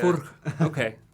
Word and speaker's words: Furch: Well, how's the pronunciation? The name Furch. Yeah. Furch.